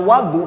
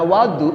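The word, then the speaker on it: وَضوء: Ismun lima yatawad Bih kalau harakatnya Wadu atau bacanya Wadu bukan wudu ng kalau bacanya Wadu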